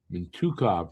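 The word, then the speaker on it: Mintyukov: Mintukov, that's how they pronounce it.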